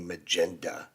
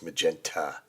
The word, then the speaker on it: magenta: gosh yeah but yet it wouldn't be magenda it's magenta so travels it's so